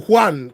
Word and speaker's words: Juan: here us already uh this name start with J but in Spanish J is not pronounced as J in most of the words so it's not Jan